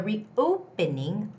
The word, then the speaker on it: reopening: The reopening, O has the stress.